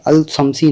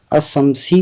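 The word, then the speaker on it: الشمسي: तो इसमें शम्सी के अंदर हम देखें तो इसमें अल शम्सी नहीं पढ़ा जाएगा, इसमें अशम्सी पढ़ा जाएगा, इसको अशम्सी पढ़ा जाएगा। और कमरी के अंदर बात करें तो इसको अल कमरी पढ़ा जाएगा, क्यों? इसके उच्चारण में अल कमरी का उच्चारण सही है, और शम्सी के अंदर अल शम्सी का उच्चारण सही नहीं है।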